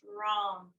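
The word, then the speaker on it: ram: the solar plexus chakra r a m pronounced wrong wrong if you say it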